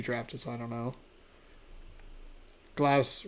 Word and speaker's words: Glaus: Glaus rhymes with house. You are correct.